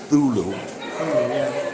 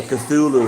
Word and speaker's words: Cthulhu: the magical thing yeah lovecraft said the word cthulhu was in a language that the human vocal cords couldn't do there's i heard stephen king say it's called thulu but a cthulhu is fine it's the only way